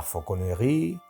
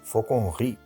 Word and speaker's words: fauconnerie: Por eso la palabra que se escribe la fauconnerie, realmente la segunda E desde el final no se pronuncia. Y la pronunciación en el sistema internacional, que lo tenemos aquí puesto, es fauconnerie. Fauconnerie.